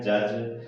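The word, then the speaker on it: judge: Next example है जज, तो इसमें भी डी जी कॉम्बिनेशन बना हुआ है, तो इसको क्या प्रोनाउंसिएशन हो जाएगा, जज। डी साइलेंट हो गया।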